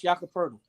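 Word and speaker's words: Jakob Pöltl: one of the first people I've ever heard pronounce Jakob Poeltl.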